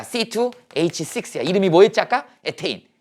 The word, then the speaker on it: 에테인: 에테인. 옛날엔 이걸 뭐라고 읽었어? 에탄이라고 읽었어. 영어로 이렇게 되거든. 일본식 발음이죠. 에탄. 이게 영어식으로 최근에 표기법이 바뀐 거야. 에테인 이렇게 된 거야.